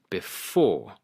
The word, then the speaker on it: before: For example, on before it is the second syllable before.